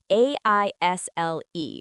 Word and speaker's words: aisle: Aisle, pronounced like aisle.